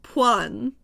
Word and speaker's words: point: It's called a point pronounced puan.